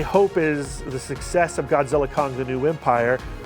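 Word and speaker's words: Godzilla x Kong: is the success of Godzilla Kong the new Empire don't pronounce the X do not pronounce the X uh I I hope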